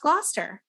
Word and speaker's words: Gloucester: correctly uh it is spelled Gloucester it is pronounced Gloucester also guys it's Worcestershire sauce in case you're